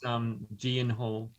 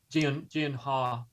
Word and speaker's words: Gyllenhaal: Pronounced Gyllenhaal. Gyllenhaal, actually.